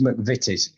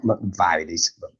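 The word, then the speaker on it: McVitie's: no but it is it's mcvities it's not MCV is I I that pronounced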